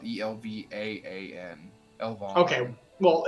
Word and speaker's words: Elvaan: And then for the Elven, it's Elven also, but it's spelled Elvaan. Elvan.